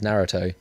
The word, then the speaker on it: Naruto: is the Japanese pronunciation Naruto okay Wow they don't put the emphasis on the second syllable well no I'm English